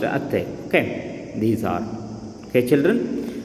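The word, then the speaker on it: ಅತ್ತೆ: We pronounced atte.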